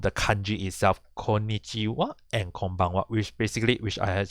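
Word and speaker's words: こんばんは: so in this case actually pronounced as konichiwa and konbanwa but because for there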